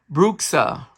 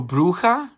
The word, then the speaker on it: bruja: can I say um bruxa or or the way we pronounce the x is like a j so bruja which means which in